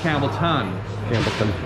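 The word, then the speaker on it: Campbeltown: isla agus atá cosúil le Campbelltown it is pronounced campbellton this is where Scotch originated there are very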